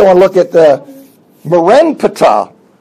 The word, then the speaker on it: Merenptah: That's actually the name of the Pharaoh, but because it's so difficult to pronounce, they switch letters around, and he's typically known as Merneptah. but his name is Merenptah, but we're going with Merneptah because it's easier to pronounce.